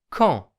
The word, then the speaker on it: quand: Quand. Quand heißt wann und auch als. Quand. Das D am Wortende wird nicht ausgesprochen. Quand.